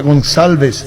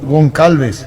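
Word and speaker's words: Gonçalves: esto él y decirle que se pronuncia gonçálves y no concalves gonzález y los hacen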